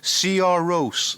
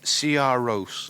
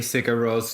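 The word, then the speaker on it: Sigur Rós: and so following that would be uh cigaros CR Roose that's how it's pronounced CR Roose it is yeah but I'm still going to say cigar Ross just cuz you know we're we're English Tom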